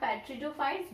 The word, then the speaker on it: pteridophytes: Bryophyta, and next one is pteridophytes. Pteridophytes, that the P is here silent. We call not pteridophytes, we call here the pteridophytes because the P is silent here.